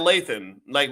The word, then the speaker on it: Lathan: Let's call her Sanaya Lathan, which rhymes with Nathan, right?